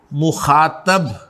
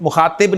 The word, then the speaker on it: मुखातब: Second person pronouns को अरबी में, फारसी में और उर्दू में हाजिर या मुखातब कहा जाता है। ठीक है, मुखातिब नहीं, मुखातब।